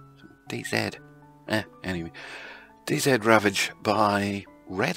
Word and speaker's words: DayZ: Dean Hall is from New Zealand and they say 'Zed'; DayZed Anyway, DayZ Ravage by Red Army.